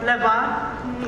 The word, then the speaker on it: LeVar: I have a question for LeVar.